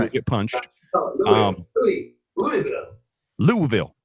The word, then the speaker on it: Louisville: Louisville. Louisville. It's the Vul. Louisville. It's like almost one syllable, barely two.